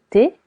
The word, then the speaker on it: thé: Du thé. Du thé. T. Letter H is silent.